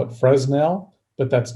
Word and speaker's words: Fresnel: one foot candle is equal to 10.76 lux fresnels are common lenses some people like to joke around i do and i like to joke around and call it fresnel but that's not correct the correct pronunciation is